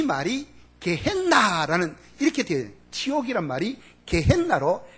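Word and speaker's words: γέεννα: 그런데 우리 성경에는 이게 지옥이라고 이렇게 적혀져 있는데, 여러분, 이게 원어 헬라어에 보면은요, 이 말이 게헨나라는 이렇게 되어요. 지옥이란 말이 게헨나로 헬라 원본에는 그렇게 적혀져 있어요. 이 게헨나 헬라식 발음인데, 여기서 말하는 이 게헨나라는 단어가 있는 거 보면은 이거는 실제적인 장소를 의미합니다.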